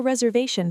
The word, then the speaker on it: reservation: I have a reservation for two. Deep dive reservation. The stress is on the v. Reserve shun. The ti is a shh sound.